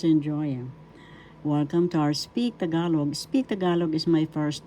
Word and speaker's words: Tagalog: Tagalog. That's how it is pronounced. First syllable ta. Second syllable ga. Third syllable.